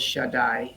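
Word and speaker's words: שדי: And in this instance, we have a different spelling of the name of God, and it is pronounced by all as Shaddai.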